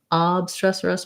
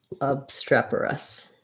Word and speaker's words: obstreperous: Okay, and when we look it up, it says that we have second syllable stress, so streperous. So as I thought, rather not obstreperous, but obstreperous, excuse me. So writing that out, we would have stress on the strep syllable, and then this would sound like a schwa, obstreper, and then we have an us, obstreperous.